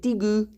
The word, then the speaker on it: degu: A lot of the time people pronounce it digu, so it's D-E-G-U, digu, but I always say it degu.